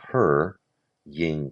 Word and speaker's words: hurrying: So, we count to I see the her ying crowds, the clasp, the flight.